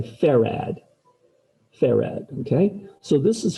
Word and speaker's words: farad: though they are 46 micro f f is pronounced ferrad f-a-r-a-d everybody say ferrad ferrag okay so this is 46 micro farad